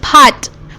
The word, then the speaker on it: part: part and of course english men they do not pronounce the r it's pot we say pot therefore okay it's pot